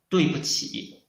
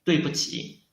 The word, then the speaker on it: 对不起: This 不 we should read it a light tongue. There's no tongue in this 不. 对不起, 对不起.